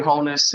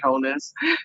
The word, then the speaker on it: Holness: I support, you know, um Andrew Holes, um you know, sorry, the the honorable right honorable Andrew Holness, let me say it correctly, and obviously the right